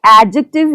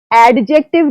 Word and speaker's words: adjective: Okay, it is the third part of the speech and we need not pronounce this letter D. Okay, ये adjective है, adjective नहीं है.